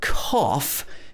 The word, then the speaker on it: cough: smooth rough and in cough the o-u-g-h is pronounced off with the o sound this is made at